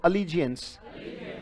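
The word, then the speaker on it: allegiance: बेटा राष्ट्र प्रेम, देश प्रेम, बहुत अच्छा शब्द है, बोलो अलीजियंस। स्पेलिंग याद करने की कोशिश करते हैं, राइट? अलीजियंस। अल कैसे पढ़ोगे? इजी एंस, बोलो अलीजियंस।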